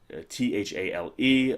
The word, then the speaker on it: Thale: But anyway, and it is pronounced, as far as I know, it's pronounced Thale, Thale. I think the English pronunciation would just be Thale, but that's how it's kind of pronounced.